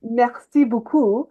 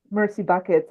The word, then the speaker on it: merci beaucoup: which is merci beaucoup Yeah. in French, but like if you say it with How it's spelled, like yeah.